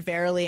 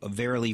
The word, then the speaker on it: Verily: think of you know verily verily verily verily life is but a dream you know it's just this kind of Happ um it's it rhymes with merily it really is just